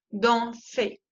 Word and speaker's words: dansez: Y la EZ se pronuncia E, como la E española. Vous dansez.